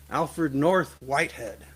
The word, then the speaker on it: Alfred North Whitehead: Alfred North Whitehead is how you say his name.